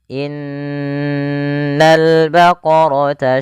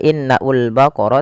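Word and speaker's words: إن البقرة: Pada alif lam di sini lamnya ditampakkan dengan jelas. Ini bukan innaul baqara tapi langsung ke lam.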